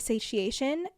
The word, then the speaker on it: satiation: extinction the second is satiation which sounds I know I know that's how you say it cuz it's like satiate but satiation is not